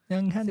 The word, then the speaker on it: Yang Hansen: Can you try to pronounce his name? Young Hansen. Yeah, it's like young and handsome. Young Hansen.